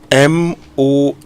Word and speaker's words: month: Month. Very simple. It's not month. Month. It is just month. Okay? So if in doubt, it's just vowel 10 as in cup.